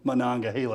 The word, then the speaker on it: Monongahela: And proud of you for pronouncing Monongahela correctly.